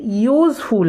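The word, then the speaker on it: useful: तो यू का उच्चारण एक्चुअली कैसे होता है? यू का उच्चारण एक्चुअली ऐसे ना होता है, यू. दैट मीन्स YOU भी तो होता है ना.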